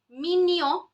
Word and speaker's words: mignon: Mignon, not mignon. Nobody will pronounce it as mignon, please. Mignon, as in minion, the cartoon minion, my favorite.